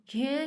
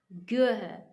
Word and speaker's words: ज्ञ: है, थोड़ा में देखना, ज्ञ का उच्चारण संस्कृत परंपरा के विद्वान ज्ञ के रूप में करते हैं, यानी ये जो है जय थोड़ा सा बोला ज्ञ के रूप में करते हैं, परंतु हिंदी में इसका उच्चारण ज्ञ है ना। वो कह रहे हैं संस्कृत वाले इसे ऐसे बोलते हैं और हिंदी में ज्ञ है बोला जाता है, ज्ञ, इस पर थोड़ा स्ट्रेस कम होता है, ज्ञ।